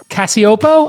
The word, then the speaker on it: Cacioppo: I thought I would bring Cacioppo. I pronounced it correct, I'm hoping?